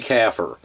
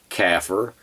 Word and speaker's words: kafir: Bill Warner, pronounce it kafir, almost like a cow's baby, a calf, and a type of conifer tree, a fir. Put it all together, you got kafir.